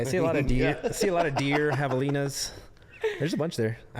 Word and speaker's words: javelina: Like javelina, Yeah. and it's javelina.